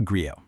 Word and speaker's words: griot: So what exactly is a griot? First off, it's pronounced griot.